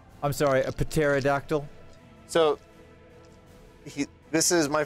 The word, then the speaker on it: pterodactyl: hear a pterodactyl urinating the p is silent I'm sorry a pterodactyl so he this is